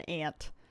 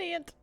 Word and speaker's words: aunt: I uh I'm very happy to be an aunt. I have a three-year-old nephew that I love to bits. I am an ant. That's our local pronunciation. Anyways, I know some people will say aunt.